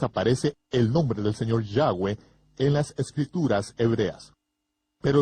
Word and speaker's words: Yahweh: parte de los gentiles el mundo de habla inglesa lo ha pronunciado aún peor al pronunciar la y como J jehova ni siquiera cerca cerca de 7000 veces aparece el nombre del señor Yahweh en las escrituras hebreas